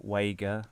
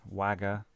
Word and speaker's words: Wager: this is by william wager wager wagga uh pronunciations vary depending on my mood um he wrote three